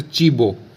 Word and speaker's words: cibo: और एग्जाम्पल ले सकते हैं जैसे चीबो, चीबो। ठीक है, जैसे CIBO, तो चीबो, चीबो मतलब भोजन, खाना, फूड।